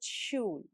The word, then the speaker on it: Schulranzen: German SCH always sounds like English sh. So Schere is Schere and Schulranzen starts with Schul.